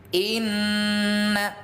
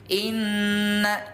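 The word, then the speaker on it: إِنَّ: Inna, nun yang bertasydid, nama hukum tajwidnya 2DGH, singkatan tajwidnya ada dicocokkan di sini. GH itu gunnah. Oh, nama hukum tajwidnya gunnah. Cara bacanya 2D, 2 harokat dengung, dengungnya 2 kali ketukan.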